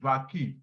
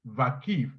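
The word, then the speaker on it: Vakıf: So anything that has to do with a W, they pronounce it like V, which is Vakif.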